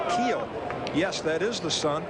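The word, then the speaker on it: Kuehl: Back in the fourth, that name is a familiar name and people look at the spelling of that name pronounced Keel.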